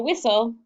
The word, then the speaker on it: whistle: go to whistle with so we know that that kind of sounds like castle so we have a closed in syllable with a short eye and then we do have the consonant le but we cross off the consonant le right because we don't hear the t with o so we